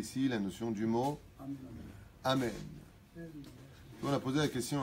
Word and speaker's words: Amen: Pas Amen, pas Amin. On n'est pas chez Amin Dada. On ne dit pas Amin. On dit Amen avec un ségol.